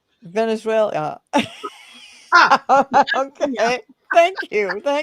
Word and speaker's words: Venezuela: Anyway, You're putting Elia at the end of it. It's it, Venezuela. Venezuela.